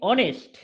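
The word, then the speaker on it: honest: না এন বসাই কেন এই যে এইচটা এটা সাইলেন্ট থাকে এর উচ্চারণ কি রকম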